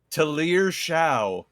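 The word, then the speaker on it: Shough: Google says that it's pronounced Tier Sha.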